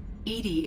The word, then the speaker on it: EDI: Why are you named Edy? Edy is the phonetic pronunciation of EDI.